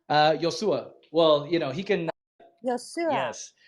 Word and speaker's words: Iosua: And is it Iosha? Yosua.